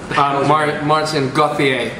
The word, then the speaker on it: Maarten Goetheer: I don't know how to pronounce his name. He can do that himself. Maarten Goetheer.